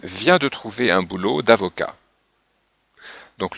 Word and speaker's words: avocat: Alors Michel vient de trouver un boulot d'avocat. Donc le T n'est pas prononcé.